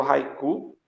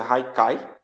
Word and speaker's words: Haiku: Esse aqui é o Haiku. Me disseram uma vez que se pronuncia Haikai, né?